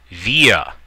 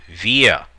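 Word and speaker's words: wir: that means i ye via we via notice pronunciation of the w is like a v via do means you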